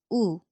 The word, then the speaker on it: 우: Now the small stroke points down. Imagine thumbs down gesture or someone saying ooh. So this is ooh.